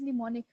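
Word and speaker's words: mnemonic: करना okay व्ट इज निमोनिक इसमें जो एम है वो इनिशियल वाला य एम जो है व साइलेंट है निमोनिक आल्सो नोन एस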